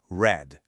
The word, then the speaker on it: read: Para read, atenção máxima na pronúncia do passado, que é red, como a cor vermelha em inglês.